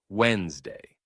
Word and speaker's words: Wednesday: The common way to say it is Wednesday. The d and n blend together, skipping the middle sound.